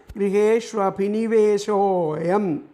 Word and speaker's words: ഗൃഹേഷ്വഭിനിവേശോയം: വിശ്ലേഷം ഒന്നിച്ച് ചേർത്തിട്ട് അപ്പം ചൊല്ലുമ്പോൾ ഉള്ള പ്രൊനൗൺസിയേഷൻ, ആ ഉച്ചാരണം ഗൃഹേഷ്വഭിനിവേശോയം, വേശോയം എന്നുള്ളത് കൂടിച്ചേർന്ന പോലെ തോന്നണം നമുക്ക്.